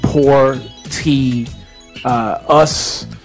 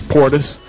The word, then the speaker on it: Portis: She said it's pronounced Poor T Us. Portia. So I do apologize, Miss Portis.